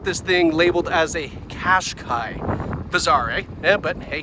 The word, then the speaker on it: Qashqai: We've got a nice wraparound taillight here, the Qashqai logo, and that's how you pronounce it, Qashqai, not Qashqai or Qashqai.